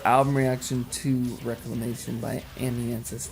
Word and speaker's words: Amiensus: Well, that's going to conclude our album reaction to Reclamation by Amnianis. Not Amiances. Amnianis.